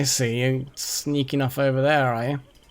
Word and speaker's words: ye: norse thorne um rune which basically means th and it's pronounced th so that ye oldie tavern is just the old tavern it's it's like it's pronounced the so it's kind of